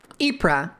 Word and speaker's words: Ypres: Long ear? Ypres. Okay, I gotcha. Ypres. I liked hitting it with the hard Y.